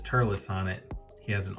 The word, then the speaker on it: Turles: want to point out is his name is Turles now I had this conversation with my wife um because I was like was I mispronouncing his name all these years because I was always calling him turless no I wasn't wrong I just don't understand